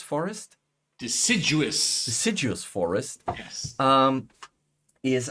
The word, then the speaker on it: deciduous: desert completely different um and the I cannot pronounce it help me decidious forest deciduous deciduous forest yes um is I've already have